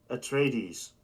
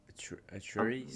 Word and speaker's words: Atries: Uh, a trades. Uh, how do you spell that? A T R I E S. A trees. Yeah, trees.